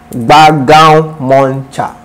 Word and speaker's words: Gbagaun Muncher: So if you want to find Gbagaun Muncher anywhere, for those who always ask, how is your name pronounced? It is Gbagaun Muncher.